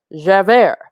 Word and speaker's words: Javert: here we go boom jeffer pronounced javert is a fictional character